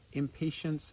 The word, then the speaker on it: Impatiens: in the genus impatience impatience sounds like the i'm not patient adjective it's spelled a little differently but this jewel weed